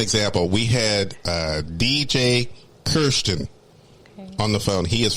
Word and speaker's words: Karsten: oh cool and uh but it's spelled k-a-r-s-t-e-n so i kept saying karsten no and he's like it's kirsten and i'm like okay karsten no it's kirsten and i'm like i